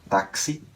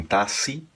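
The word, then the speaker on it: taxi: das vezes é assim ela pode soar como uma CS um exemplo palavra táxi aqu ela soaria CS ainda que tem alguns espanhóis que relaxam na hora de pronunciar e dizem tass como S também tá e em algumas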